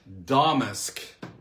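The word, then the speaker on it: Damask: Domusk is the is the empasis on the first syllable.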